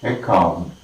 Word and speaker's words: account: account, okay, account, A-C-C-O-U-N-T, account, and that is account, all right, account, count, primary stress is marked on the second syllable, account.